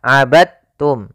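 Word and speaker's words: عبدتم: maaf hati-hati jangan dibaca abadtum ya tapi langsung dimasukkan ke ta abadum bukan abadum ya Meskipun Dal termasuk huruf Qalqalah karena dia memiliki makhraj yang sama dengan Ta Maka diidamkan dalnya kepada huruf ta sehingga dibaca dengan huruf tanya langsung abadum kita coba ulang W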